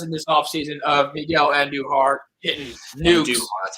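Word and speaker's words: Andújar: there's always videos in this offseason of miguel and new heart that's how you pronounce his name and he's just and he's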